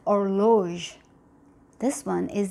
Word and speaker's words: horloge: So the H is not pronounced in the word. For example, this word over here is going to be pronounced as not hum, okay? And this word over here is going to be pronounced as horloge.